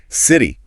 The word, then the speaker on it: city: One more. City. American. Si flap T. British city. Clear T.